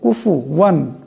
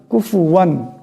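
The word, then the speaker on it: كُفُوًا: এটাকে ধ্যানে রাখতে হবে এখানে ফার উপর পেশ আছে এটাকে সাকিন করা যাবে না পেশ পড়তে হবে কুফু কুফুয়ান কুফুয়ান কুফুয়ান এমন পড়তে হবে আহাদ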